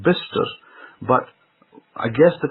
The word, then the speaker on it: Bicester: Now I remember that there's a road that was near to my house called Bister Road, Bicester. Now if I read it in the grammatical form, I would read that road as Bicester Road, because it's got Bicester.